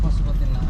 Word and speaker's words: Pashupatinath: Yeah, Pashupatinath.